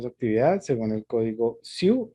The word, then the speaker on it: CIIU: Trabajo en alturas de su actividad según el código SIU y FERNEI. SIU se escribe CIIU.